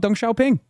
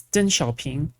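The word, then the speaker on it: Deng Xiaoping: man who also loved Dong Xiaoing. That's what I think about. Yeah. Also, by the way, he's still not pronouncing any of this correctly. It's Den Xiaoing.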